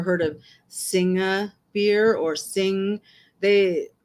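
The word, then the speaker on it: Singha: of Singa beer or sing they the company says that it's supposed to be pronounced sing uh s i n g h a but everyone calls it cinga and Carlsberg and Guinness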